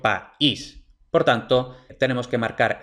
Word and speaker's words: país: dipton y se pronunciaría Pais en una sola sílaba pero no yo no pronuncio Pais pronuncio país por tanto tenemos que